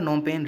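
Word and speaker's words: Phnom Penh: Cambodia नोमपेन real, यहाँ पर P silent रहेगा नोमपेन में।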